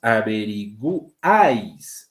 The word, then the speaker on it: averiguáis: Acá, por ejemplo, sí se está pronunciando la U. Averiguáis. Ah, ya, la estoy diciendo, ¿no? Por eso se pronuncia.